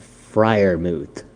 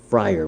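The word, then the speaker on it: Freiermuth: next titan i have i was messing up his name i butchered it so bad you would have thought i was leather face on texas chainsaw massacre i'm talking about pat friar moot i got it right now guys it's friar moot he made sure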